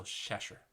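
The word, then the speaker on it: seisear: 3 and up is going to be that little sound at the end. So shesher. Shesher for 6 people.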